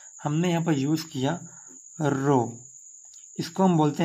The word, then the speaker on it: rho: RHO मतलब इसको हम बोलते हैं रो, यार हमारा H साइलेंट है।